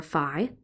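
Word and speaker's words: φ: thing here was called the phase angle pronounced fee or Phi so a positive fee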